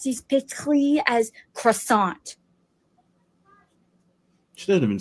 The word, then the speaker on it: croissant: It's croissant. One more time. You don't pronounce the T.